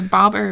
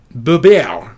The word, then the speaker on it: Bober: The Bobber or Bober? Bober. My maiden name, Bober.